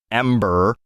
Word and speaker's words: M8: announced 6 years ago M8 likely pronounced Ember a spiritual successor to Firefall fire Ember get it anyway it's had